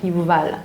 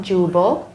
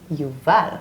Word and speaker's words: Yuval: So the first musician in the Bible, yeah, Yuval, not Jubal, Yuval. That's the proper way to pronunciate it.